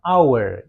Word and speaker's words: hour: Karena pengucapannya adalah hour ya. Bukan tapi hour. Makanya dia pakai an hour bukan pakai a hour. A hour bukannya tapi an hour. Karena hour dibaca hour gitu ya.